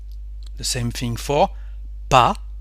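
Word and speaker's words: pas: the same thing for PA we don't pronounce the S PA for step or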